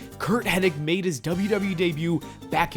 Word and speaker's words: Curt Hennig: His name was Curt Hennig, not Henning. Curt Hennig made his WWE debut back in January 1982 and later was known as Mr.